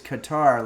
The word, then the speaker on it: Qatar: It used to be Qatar, but now everybody says Qatar, like guitar.